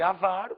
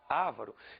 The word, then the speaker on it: avaro: Em vez de avaro, poderiam dizer ávaro.